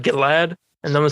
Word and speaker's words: Gilad: So Yeah, I've always called him Gillard. But yeah, I think they over exaggerated in the movie. Yeah. I'm going to take the pronunciation in the movie as the correct one because Dinesh was the one that, oversaw this project. Mm-hmm. So I guess we need to call him Gilad.